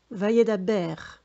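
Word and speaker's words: וַיְדַבֵּר: Alors, voyez, ici, il y a 2 points sous la lettre bête, donc on la prononcera B. Vayedaber.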